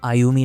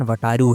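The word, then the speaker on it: Wataru: उन्होंने मुझसे बोला था मेरा नाम आयुमी नहीं है। यह मेरे नाम का प्रोनाउन है। मेरे नाम का प्रोनाउंसिएशन वटारू है।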